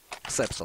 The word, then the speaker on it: Xapso: Я буду даже ее называть Хепсу, потому что так может быть и неправильно, но удобно. Но мне, если что, подскажут, как правильно читается. Ксепсо? Ксепсо. Ну, будет Ксепсо, окей.